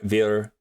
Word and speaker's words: wir: I do know that the W makes a V sound, so it's like wir, vi, was, not like we're like what was it?